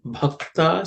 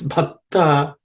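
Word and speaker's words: भक्त: Bha, this bhakta, this bha is the fourth letter in the pa varga.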